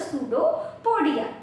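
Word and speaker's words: pseudopodia: projection that is द सूडो पडिया ठीक है P silent होता है इसलिए इसको प्रोनाउंस सूडो कोडिया करते देखो जैसे ही कोई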